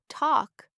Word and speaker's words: talk: The teacher on the screen said, "Let's read this word talk." I read it clearly. Talk. But the teacher said, "Talk." No L sound.